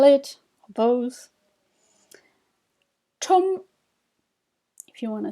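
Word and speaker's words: ཁྲོམ: The first one, try to read it, or spell it, or both. Chom.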